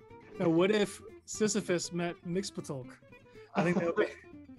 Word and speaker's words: Mxyzptlk: And they answered with Mxyzptlk. That's the correct pronunciation.